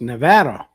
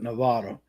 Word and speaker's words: Nevada: were here Nevada yeah most people pronounce it Nevada but apparently that's wrong I had to be